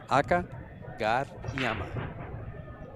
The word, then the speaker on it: Akagariyama: Just AKAGARIYAMA. I feel like a child all over again learning to speak. It's phonetically it just lays just right.